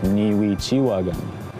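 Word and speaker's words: nîcîwâkan: Neechie derives actually from a Cree word pronounced Niwi-chiwagan, my friend, my follower. And Neechie comes from Nichiwagan, my friend, my follower, my partner.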